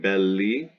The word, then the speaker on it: belli: ii neuter so bedlam belly it's a neuter noun and it's gonna be second to clench and neuter it's gonna be second to clenching because it has an i pronounced e and its genitive singular